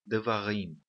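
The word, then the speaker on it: דברים: Existem 3 sílabas nessa palavra e a última sílaba é a sílaba tônica, rim, tá bom?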